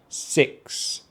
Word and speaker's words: sixth: So don't forget, it's a short vowel sound in this word, the short vowel sound, I. So we have sixth.